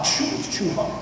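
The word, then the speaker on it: چوہا: So it's the opposite of a sneeze, not ha. Chuha.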